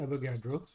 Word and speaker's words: Avogadro: So there was an Italian scientist by the name of Aidio Avagadro.